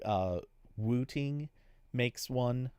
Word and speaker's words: Wooting: on keyboards like uh wooting makes one I'm yes I'm over pronouncing it but just so it sounds right it's w t iing g wooting is the new Pro